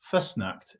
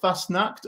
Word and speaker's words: Fassnacht: I pronouncing it okay first snacked or yeah it's not bad it's fast enough so uh the uh obviously in Switzerland the a is a is very loud so double s means means not as